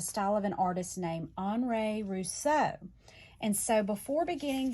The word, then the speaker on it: Henri: But Henri Rousseau was a French artist, and so Henri in American would look like Henry. So, but the French pronounce it Henri.